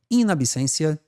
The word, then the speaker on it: in absentia: seguinte ó a instalação in absencia se pronuncia o t com som de s tá pessoal o latim